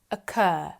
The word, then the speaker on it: occur: most British English accents the word occur ends in a vow sound uh occur the letter R isn't pronounced we match voiced with